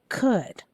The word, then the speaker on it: could: why number seven could could there's one letter here that silent one consonant that silent there we go remember